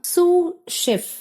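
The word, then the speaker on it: sous chef: என்னன்னு பார்த்தீங்கன்னா சூ ஷெப் இந்த சூ அப்படிங்கறதுல பார்த்தீங்கன்னா எஸ் ஓ யூ எஸ் ன்னு எஸ் இருந்தாலும் கூட அந்த லாஸ்ட்டா இருக்கக்கூடிய எஸ் வந்து உங்களுக்கு இங்க சைலெண்ட் அதை நீங்க உச்சரிக்கக் கூடாது ப்ரொனௌன்ஸ் பண்ண கூடாது சோ சூ ஷெப் அப்படின்னு நீங்க ப்ரொனௌன்ஸ் பண்ணி பார்த்துக்கோங்க இங்க செஃப் அப்படிங்கறது ஒருத்தர்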